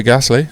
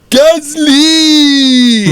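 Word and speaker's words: Gasly: P7 Pierre Gassley. Do you want to say it properly? Pierre Gazley.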